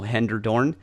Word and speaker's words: Hellendoorn: I'm here with Nicole Hellendoorn of California Paleo Kitchen. Did I brutalize that name again already? I know I did. That's Hellendoorn. okay. Hellendoorn. Yep, Hellendoorn. phonetically.